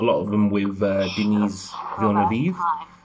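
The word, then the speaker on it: Denis Villeneuve: of them with uh denise villanova or dennis villenes depending on how you want to pronounce it uh who's gonna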